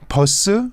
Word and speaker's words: 버스: And then maybe the third part, 버스, like the bus. So how do you say? Are you supposed to say bus or bus? People mostly say 버스. Bus, like double B. Exactly. Double P, bus.